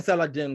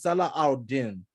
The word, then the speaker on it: Salah al-Din: So I keep saying Saladin because his name is Salah al-Din, but you might see it's spelled Saladin, just Saladin.